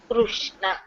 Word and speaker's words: Krishna: So, though we are used to write the KRA SHNA, but the correct pronunciation is like KRU, the Vatrasudi, Rukara. The vowel Rukara should be there, so it is Krishna, Krishna.